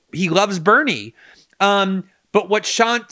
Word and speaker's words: Shant: I always mispronounce his name. Shant.